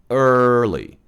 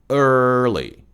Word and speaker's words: early: 혓바닥을 좀 안쪽으로 끌어당기세요. early, early.